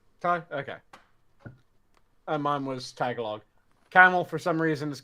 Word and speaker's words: Tagalog: Johnny, I'm gonna Tagalog.